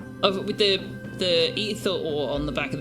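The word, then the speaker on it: Aether: In fact, if it was spelled A-E-T-H-E-R, you would pronounce it ether ore, which would be even more obvious.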